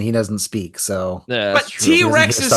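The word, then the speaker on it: T. Rex: actually be slow cuz he mispronounces the band T-Rex as TX yeah and she's like do you mean T-Rex he's like I think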